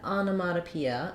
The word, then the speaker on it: onomatopoeia: that first looking at onomatopoeia um let's break it so the first syllable on has the clear a vowel Ana then our next syllable letter O has a reduced vowel sounds like uh so we have a